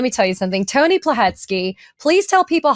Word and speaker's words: Plohetski: For those of you that are watching and listening, it is spelled Thank you. Plohetski, Plohetski.